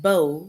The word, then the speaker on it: bow: And the word bow, it rhymes with low. So we have bow, and bow rhymes with how. And then we have bow that rhymes with low.